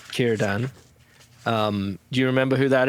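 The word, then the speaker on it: Círdan: Kierdan? Yeah, Kierdan, like my middle name, Kieran, but Kierdan.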